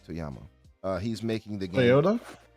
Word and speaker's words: Toyama: Toyama.